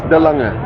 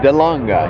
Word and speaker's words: De Lange: It's De Lange. De Lange. He's a little pronunciation there.